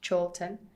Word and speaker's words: Chorlton: CH, character, chameleon, not knowing that it's not pronounced character and chameleon. Where I'm from in Manchester begins with CH, Chorlton.